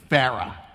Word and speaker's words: Farah: So, I thought I would teach him how to pronounce my name properly. It's Farah. Farah.